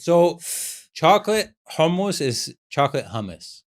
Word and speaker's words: hummus: So, chocolate hummus is chocolate hummus. It's not hummus. It's hummus. Hummus. Yeah. That's like How do you pronounce it again? Hummus. Hummus. Like you're coughing up a hairball.